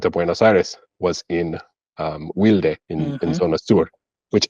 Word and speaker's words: Wilde: It's really an English word. It should be wild, but it's in Right? Argentina it's wilde. Wilde.